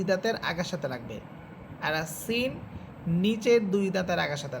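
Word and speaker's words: ث: আর সা এটা নরম করে পড়বেন।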